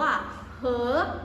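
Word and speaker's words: 和: นะ คะ คำ นี้ ค่ะ อ่าน ว่า เหอ อ่ะเหอ แปล ว่า และ นั่น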